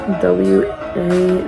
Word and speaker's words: Wa: W-A nationality.